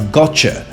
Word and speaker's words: gotcha: other examples like got you which is actually pronounced as gotcha it's the same case with last year which